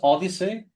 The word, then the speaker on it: OHDSI: Odyssey? Yes, it's spelled OHDSI.